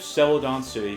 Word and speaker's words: Celadon City: Yep, Celadon City.